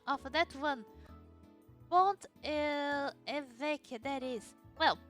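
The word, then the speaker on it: Pont-l'Évêque: Listen to the pronunciation of that one. Pont évêque, that is. Well, Pont évêque if we wanna be correct.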